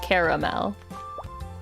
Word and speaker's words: caramel: how I say it honestly I usually say caramel I try to do three syllables caramel not caramel but I guess like if